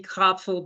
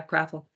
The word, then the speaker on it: Krapfel: even more than mine, but I also have the PF in there where the P is silent. So yeah, kindred Kraffel, spirits. if you're in Germany, then it would be Krapfel, but then that would just throw everybody for a loop. So yeah, Kraffel.